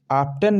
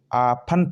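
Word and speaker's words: often: आफ्टन, यानी आफ्टन ये नहीं पढ़ेंगे, आफन पढ़ेंगे, क्योंकि टी क्या रहता है, साइलेंट रहता है।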